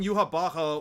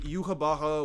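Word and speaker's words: Yhwach: more time, Uryu and Yuha Baha one more time because I don't feel like writing him 3 fucking times. Okay, so. We're gonna discuss it. It's Hebrew pronunciation in German, I guess.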